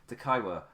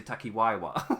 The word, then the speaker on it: Takaiwa: Takaiwa. It's the I that does me up. I want to say Takiwaiwa for some reason.